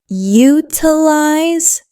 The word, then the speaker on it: utilize: Utilize is utilize. Three syllables. The stress is on the first syllable. Utilize. Make sure that first syllable is strong.